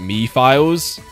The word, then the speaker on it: Mephiles: Real Runs pronounce it Mephiles. Memphis, Tennessee.